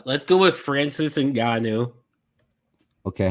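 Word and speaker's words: Ngannou: to say um and it actually sounds like it looks so I feel like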